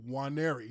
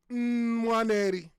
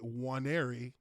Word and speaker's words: Nwaneri: The N is silent. You don't say the N in my last name at the beginning. You say Nwaneri. Now in Igbo, which is Nigerian dialect, you do pronounce the N, which is pronounced Nwaneri. But that is not appropriate in the English dialect. So you say Nwaneri with the N being silent.